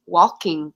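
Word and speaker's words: waulking: had the last um walking session i say it like with an l w-a-u-l-k-i-n-g walking is the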